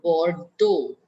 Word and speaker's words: Bordeaux: Le, bor, le Bordeaux. Deaux is do.